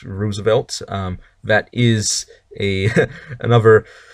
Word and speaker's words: Roosevelt: um okay uh next number nine Franklin D Roosevelt oh Y open quote Franklin Roosevelt also called